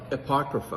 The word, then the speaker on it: Apocrypha: Uh Daryl, help me pronounce this right. The Apocrypha. Apocrypha.